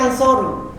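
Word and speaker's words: أنصار: Ini bacanya ansoru.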